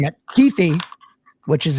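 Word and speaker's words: Kuithe: But I'm saying that Keithy, which is how you pronounce his name, the senior citizen Brandt Keith was actually 11 number 11 in his PFF grade.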